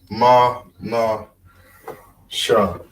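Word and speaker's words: מנשה: That H at the end is silent. So like I said, some of these words, when it ends in H, it's a little harder to remember. But it just takes a little practice, right? This is Ma, Na, Sha.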